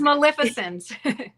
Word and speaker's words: Maleficent: It's Maleficent.